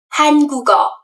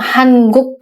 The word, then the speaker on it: 한국: Sebenarnya ada dua versi, boleh 한국 karena ketika kita berbicara dengan native speaker ya, biasanya kalau yang udah ngomongnya cepat itu kedengarannya jadi 한국. Tapi kalian ngomong Hanguk pun tidak apa-apa gitu.